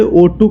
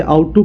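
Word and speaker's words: ought to: इसे actually O2 कहते हैं, कई लोग इसे आउट टू कहते हैं। आउट टू नहीं होता, इसका करेक्ट प्रोनाउंसिएशन होता है O2।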